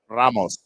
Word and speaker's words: Ramos: mean to correct you but I believe it's pronounced Ramos Ramos yes thank you yes yes my my